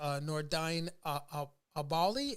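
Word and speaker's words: Nordine Oubaali: We did the Devin Haney, Jorge Linares bout, the Nordine Abali.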